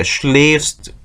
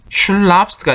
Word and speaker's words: schläfst: schläfst schlafst가 아니라 umlaut부터 발음이 변해요.